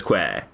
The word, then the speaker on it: quay: Isn't it, I suppose it's pronounced key, but I prefer pronouncing it as quay.